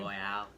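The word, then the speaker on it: Loial: Loyal.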